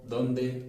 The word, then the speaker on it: dónde: dem (typisch deutsche Aussprache) Das 'd' im Deutschen bzw. im Englischen wie viel härter. Es ist ein *alveolarer Verschlusslaut*. Das heißt, dass die Zunge am Zahndamm hinter den Zähnen liegt und es ist ein Plosiv (ein Verschlusslaut).